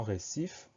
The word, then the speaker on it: récif: Première syllabe ré, R, E accent aigu, pas de problème. Deuxième syllabe sif. Le son S, on va l'obtenir grâce à un C, donc CI. Et à la fin, on met un F qu'on entend, récif.